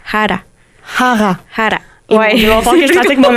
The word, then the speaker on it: Jara: Le le Jara, c'est pas Jara. C'est pas Jara. C'est haara ou que je pratique